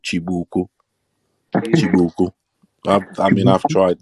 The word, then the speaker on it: chibuku: called chibuku if you google if you google c h i b u k u chibuku but i'm pronouncing it proper styles that's